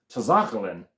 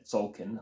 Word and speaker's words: Tzolk'in: a T-series game, and this is Tzolk'in, as he pronounced it. Now I have said Tzolk'in, but I don't know if I first said it correctly, and I know a number of people say it incorrectly as well. Tzolk'in, very similar, those particular ones. Obviously quite like Tzolk'in, which has an apostrophe after the fifth letter.